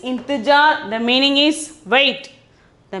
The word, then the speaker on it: इंतज़ार: Then 94 is intijar. 94 is intijar. The pronunciation is intijar.